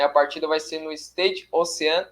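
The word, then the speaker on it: Stade Océane: Né, a partida vai ser no Stade Ocean, é assim a pronúncia?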